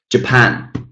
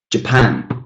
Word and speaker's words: Japan: Japan. Japan. Got two syllables here. Japan. Japan. Quite clearly, the stressed syllable is the second one.